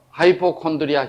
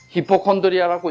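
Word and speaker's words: hypochondria: 하이포콘드리아 현상이 나오는 것입니다. 젊은 사람들 따라 읽으면 하이포콘드리아. 이거는 일본 사람들은 히포콘드리아라고 읽더구만. 히포콘드리아. 근데 실은 하이포콘드리아라고 미국 사람들은 그래 읽어요.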